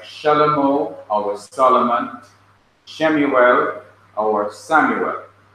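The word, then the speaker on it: שְׁלֹמֹה: You have Shin, which is an SH sound, and underneath the Shin you have the Shewa. Now notice that Shewa is at the beginning. It begins a syllable. Here's a syllable, Shin. And when it begins a syllable, at the beginning of a word or the middle of a word, it is to be pronounced.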